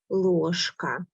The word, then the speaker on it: ложка: And here we have a similar ложка. In the middle of the word we have bright zh, but we pronounce as sh, ложка.